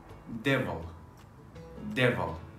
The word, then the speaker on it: devil: The mouth is a bit more open than the other one.